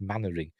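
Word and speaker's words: Mainwaring: it you know captain mannering from Dad's Army it's pronoun it's spelled m wearing is it but it's pronounced mannering in English weird anyway never mind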